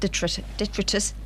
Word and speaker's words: detritus: My friend Donna remodelled some cat detritus. How do you say it?